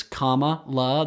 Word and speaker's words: Kamala: For those of you that have been saying it wrong, it's Kamala. The way to think of it is it's like Mama La, because that's what her stepkids call her.